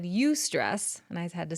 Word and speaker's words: eustress: So he said eustress, and I had to say, will you spell that?